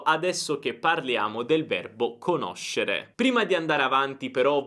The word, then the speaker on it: conosce: Io conosco, tu conosci, lui, lei conosce. noi conosciamo, voi conoscete, loro conoscono. Quindi ricorda la differenza di pronuncia: conosco, conoscono, e poi tutte le altre sono conosci, conosce, eccetera. Sk e sh.